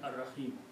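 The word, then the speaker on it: الرحيم: In the recitation, whenever we want to stop, we do not pronounce the harkat of the last word.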